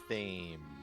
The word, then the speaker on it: Thames: It's the perfect day to find a nice grassy walk near the Thames. Yes, exactly. That's how you pronounce it.